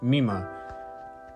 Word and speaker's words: Mima: So I mispronounced the name. It's Mima.